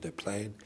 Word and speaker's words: Des Plaines: expanded comprehensive plan for Des Plaines, Illinois. I guess the French would pronounce it Des Plaines.